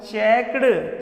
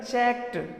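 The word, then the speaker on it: checked: जैसे हम यहाँ क्या बेटा चेक, चेक में ईडी लगाया, हम क्या बोलते हैं चेक्ड, चेक नहीं बेटा चेक्ड, क्या बोलता है चेक्ड बोलता है।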